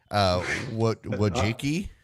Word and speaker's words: Wojcicki: Wojcicki?